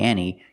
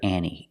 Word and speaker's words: ante: silent and you hear Annie Annie up the Annie because when you have n t between vowels sometimes Americans don't pronounce the T so we have two